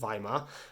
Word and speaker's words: Weimar: in a place called Weimar. I know it's said with it's said with a V, but you spell it with a W because that's German.